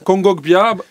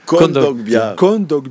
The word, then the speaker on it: Kondogbia: Kongogbia... Qui ça? Balerdi, Kongogbia. Kondogbia. Jamais réussi à le prononcer. C'est bon. Kondogbia.